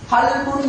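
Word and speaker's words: قلب: இன்னும் ஒரு உதாரணத்தை பாருங்கள் கல்புன் என்றால் உள்ளம் ஆனால் இந்த கல்புன் என்கின்ற காவை சரியாக உச்சரிக்காமல் அதற்கு சற்று வித்தியாசமாக வருகின்ற காப் சிறிய காஃபை நாம் உச்சரித்தால் அதனுடைய அர்த்தம் என்னவென்றால் நா என்று ஆகிவிடும் கல்புன் என்று உள்ளம் என்று சொல்லப்பட வேண்டிய இடத்தில் அந்த காவை சரியாக உச்சரிக்காமல் நாம் காப்பை உச்சரிக்கின்ற நேரத்தில் உள்ளம் என்று சொல்லப்படுகின்ற என்ற இடத்தில் நாய் என்ற அர்த்தத்தில் நாம் வாசித்து விடுவோம் அதேபோன்று இன்னும்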